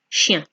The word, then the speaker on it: chiens: Except in French, you don't pronounce the S.